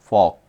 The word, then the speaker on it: folk: फॉक लोग FOLK एल क्या है इसमें साइलेंट है। फॉक लोग।